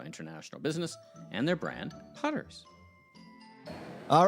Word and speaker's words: Putters: It's what Putters. pronounced.